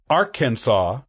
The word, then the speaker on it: Arkansas: in 1803 with the Louisiana Purchase interestingly the pronunciation of the state was only settled as Arkansas with an act of the state legislature in